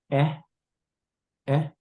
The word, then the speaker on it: Kʼé: that relation is called if you were to learn how to spell it this will be K glad e High tone so e e is how you say it so means relationship if I was to